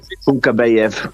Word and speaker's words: Kunkabayev: Cam Shebek Kunkabayev. That's how you pronounce it.